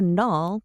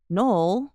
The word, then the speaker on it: Noel: I was expecting Noel, like Christmas, not a null, like null and void." "No, it's not like null. Noel rhymes with coal, but it is spelled Noel.